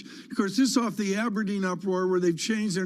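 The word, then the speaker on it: abrdn: plc except it's about a b r d n the new name pronounced aberdeen helpful will be of a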